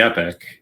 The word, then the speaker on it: epoch: i would say why i say epic but but epoch is also correct um and so we